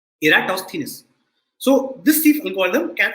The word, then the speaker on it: Eratosthenes: sieve of eratosthenes and this is how you pronounce the name you say era toss thinness okay eratosthenes so this thief alcohol